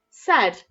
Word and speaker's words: said: share okay said said remember that a here is making the e sound so even though okay said that's how we spell the word said so even though it's making the f sound in the middle it's got the letters a i said don't worry